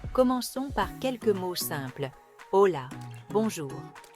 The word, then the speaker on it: hola: par quelques mots simples hola bonjour rappelez-vous le h muet concentrez-vous sur les sons O et A amigo ami remarquez le